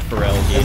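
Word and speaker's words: Feraligatr: Yeah, Feraligator.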